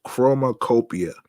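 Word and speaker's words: Chromakopia: copia not yeah I I may have mispronounced it before it's chroma Opia by Tyler the Creator first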